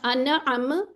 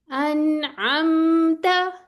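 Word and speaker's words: أنعمت: ठीक है, अनअमता, नून भी आ गया, मीम भी आ गया। अगर आप इस तरह करेंगे अनअम, ऐसे नहीं करना, बल्कि थोड़ी आवाज चला लेंगे। अनअमता।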